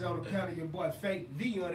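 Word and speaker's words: Fabyon: Your boy, Fake Vion. That's 3 syllables. F-A-B-Y-O-N.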